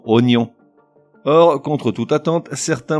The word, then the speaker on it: oignon: Ensuite, on a quelques mots qui s'écrivent avec un G suivi d'un N qu'on convertit automatiquement en N, comme dans oignon.